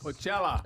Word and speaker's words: Coachella: Coachella.